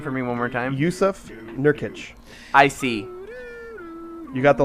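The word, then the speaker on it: Jusuf Nurkić: Yusuf Nurkic. I see. You got the last name right, first name wrong.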